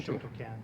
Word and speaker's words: Shotokan: As a competitor in the sport, Lair won numerous medals at the international tell me that one. Shotokan. Shotokan. Okay, it's the pronunciation.